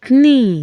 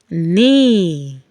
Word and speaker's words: knee: The KN here is going to take the sound of letter N. We have examples like night. You don't say night. You don't say knee. No. You say night. We call it a silent K. The K is silent.